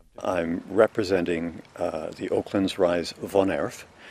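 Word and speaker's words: woonerf: I'm representing the Oaklands Rise Vonerf, which is spelt W-O-O-N-E-R-F, but actually pronounced the Dutch way Vonerf.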